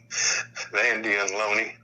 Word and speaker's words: Lona: Now they were pronounced Vandy and Loney.